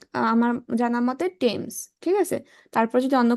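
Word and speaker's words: Thames: near হয়ার দা charter টেমস DOS flow এই টেমস নদী হচ্ছে দেখ এটার উচ্চারণটা কেউ টেমস বলে কেউ থেমস বলে কেউ ডেমস বলে এখন আমি সঠিক উচ্চারণ আমার জানামতে টেমস ঠিক আছে তারপর যদি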